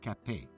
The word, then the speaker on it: Capet: he did not kill Marie Capet. So, who did? It's pronounced cape.